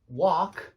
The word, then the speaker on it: wok: They say wok in exactly the same way as they say walk.